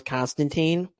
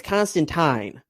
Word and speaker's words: Constantine: me it turns out his name isn't actually pronounce Constantine and it's constant time but ever since the Keanu Reeves movie people